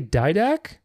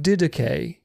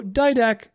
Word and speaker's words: Didache: So it's not didache, because di doesn't exist in English.